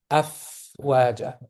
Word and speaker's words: أفواجا: Afwaja. Okay. So let the air come out. Okay. Don't wait for it to finish. What I'm saying is don't block it. Okay. Don't block it. Don't say af.